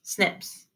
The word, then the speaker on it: SNP: single nucleotide polymorphisms or snps pronounced snips some have no effect